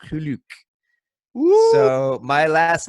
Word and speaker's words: Geluk: Furthermore, apparently, my name in proper Dutch is spelled G-E-L-U-K, not G-E-L-O-K, and apparently it's pronounced Geluk.